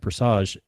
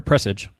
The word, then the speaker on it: Presage: had exotic missions like Presage, or Presage, gosh, now I'm saying it. Because, we had a whole thing on that, the correct way that to say it. Emphasis on the right syllable.